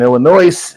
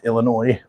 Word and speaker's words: Illinois: place near me in Illinois Illinois s is silent for all of you